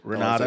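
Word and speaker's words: Renate: Renata, that's how you pronounce it.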